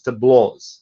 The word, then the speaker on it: tableaux: end of tableau, or you can write the original French pronunciation, but it will still be pronounced as tableaux.